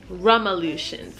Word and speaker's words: Rumulations: It's probably rum. Rumulations. Rumulations. I'm thinking it'd be Rumulations, your rum cake solution. Rumulations. Okay, now I'm saying it right.